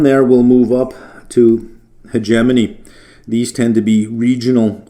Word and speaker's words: hegemony: Hegemony, that word is pronounced hegemony.